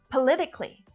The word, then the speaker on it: politically: the same rules but politically has only four syllables it's not politically just politically four syllables politically politically his decision